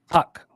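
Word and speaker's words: Tuch: 113 bet online Alex touch how do you pronounce that Jim toque right tuck tuck right plus 137 that's a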